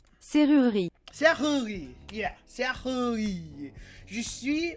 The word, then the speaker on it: serrurerie: the E-R-I, and then you don't pronounce that E at the end, because you never pronounce like the last letters of French, like it's serrurerie.